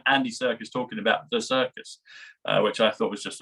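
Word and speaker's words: Serkis: that they said they've got Andy Circus and circus is spelled different I think it's s r kis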